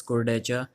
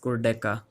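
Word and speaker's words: Kurdecha: He said if you are an American, you can call me Alex Cordecha, but the actual pronunciation is Alex Cordeca.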